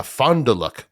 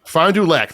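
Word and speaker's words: Fond du Lac: Uh Fondul Fonduac. Fondulac. Thank you. They just moved there. So that that's they were pronouncing it wrong even.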